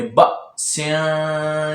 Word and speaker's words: بأس: دے کے پڑھتے ہیں۔ اس بات کا خاص خیال رکھتے ہوئے پڑھیے گا کہ بأس شدیدن، تو اس کے ہجے بھی آپ سن لیں کہ ہجے کیسے کرتے ہیں۔ بعض اوقات بچے ایسے اس کے ہجے کر دیتے ہیں، بڑے اس طرح اس کے ہجے کر دیتے ہیں، با الف زبر با یا با الف زبر با، تو یہ ہجے غلط ہیں، کیونکہ الف کو ہم نے نہیں پڑھنا کیونکہ یہ حمزہ ہے، تو حمزہ کو ہی پڑھیں